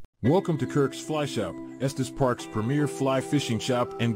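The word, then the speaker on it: Estes Park: newslet that's pretty cool because it actually knew how to pronounce Estus Park you know I even hear people in real life typically who are from out of town they call it est's Park but the AI actually knew how to pronounce it so that's pretty cool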